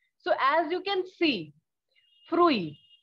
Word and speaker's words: fruit: So as you can see, fruit, although the spelling is same as in English, but the pronunciation is fruit.